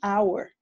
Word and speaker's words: hour: Por eso estamos utilizando an hour. The H at the beginning of an hour is silent.